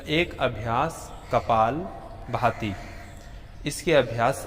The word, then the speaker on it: कपाल भाती: अक्सर लोग उच्चारण करते हैं कपाल भारती, परंतु मूल या असल शब्द है कपाल भाती।